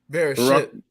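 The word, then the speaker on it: בראשית: being talked about even in, how do you pronounce it, in Genesis? Bereshit.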